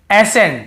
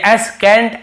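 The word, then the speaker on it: ascent: जैसे देखिए एसेंट, हम क्या पढ़ रहे हैं, एसेंट, यहाँ पे एसेंट या एस कैंट ऐसे नहीं पढ़ रहे हैं।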